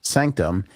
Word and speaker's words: SNCTM: SNCTM, pronounced Sanctum, is a private members